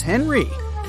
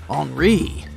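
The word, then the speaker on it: Henri: extravagant and this is Henry but it's more correct to pronounce his name as HRI since he's French you might have noticed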